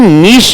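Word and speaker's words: niche: करता है जब वो नीश मार्केट पे होता है व्हिच market what is the meaning of नीश market N आई नीश का स्पेलिंग इज एन आई सी एई निश इज एन आई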